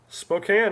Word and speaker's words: Spokane: Spokane or Spokane? What is the correct pronunciation? Cane or can? Illinois. Illinois. Los right angles. Spokane, exactly.